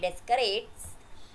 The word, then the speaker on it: Descartes: So it is the method of describing the location of points in this way was proposed by this French mathematician René Descartes, pronounced as Cart.